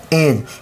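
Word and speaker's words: edge: जी ई से क्या हो गया? ज एज यानी हमें डी को नहीं पढ़ना है।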